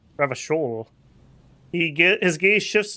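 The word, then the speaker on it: Revachol: feet he pronounces revon with a hard K unlike other people I love it when the game does that you said revical I like to pronounce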